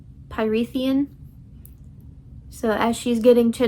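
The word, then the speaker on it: Prythian: I think it's pronounced Pythian.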